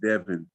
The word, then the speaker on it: Devon: The wife's name is DEVON. Yeah. Devon, I guess. Devon. Devon. Let's see. I see her with red hair right here. Let me see if I can. Her name is pronounced Devin.